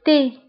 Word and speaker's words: thé: شاي le thé le thé. فانتبهوا بالنسبة لو تي كنكتبوها بالتي اش le thé.